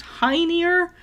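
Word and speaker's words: Hœnir: odin loki and someone whose name is pronounced high near i don't know who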